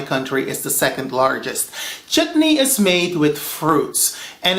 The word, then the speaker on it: chutney: It is not pronounced chutney, it is chutney, okay?